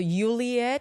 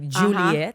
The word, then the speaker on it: Julieth: whatever, they're like, so Juliet, because you don't pronounce the Y as in Colombia. In Colombia or Latin America, you say J, like Juliet, even if you say, even if you see the Y.